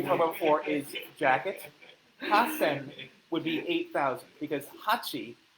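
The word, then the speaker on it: 八千: Hasen would be 8,000 because hachi is 8, sen is 1,000. However, when you combine the two together, hachi and sen will become hasen for specifically 8,000.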